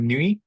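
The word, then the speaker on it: Nuits: So, the name for my Finnish business is called Nui N UI TS and the TS is silent obviously because this is a French word.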